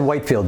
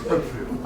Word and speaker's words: Whitefield: And it's Whitfield. I said Whitefield, didn't I? It is. Pronunciation is Whitfield.